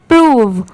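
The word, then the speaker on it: prove: प्रूव ठीक है प्रूव अगर यहां पर यह सेपरेट होता जैसे पी आर ओ होता तो इसको प्रो पढ़ते हैं पर यहां पर इसकी प्रोनंसिएशन है प्रूव ठीक है ऐसे ही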